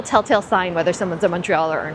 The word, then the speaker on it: Montreal: say it correctly, but a lot of people say Montreal. It's not like Montreal. It's almost more like M-U-N, like Montreal, like the way you would say monkey.